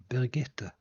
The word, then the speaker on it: Birgitte: There is a hidden E at the end of it. So you pronounce it like Birgitte.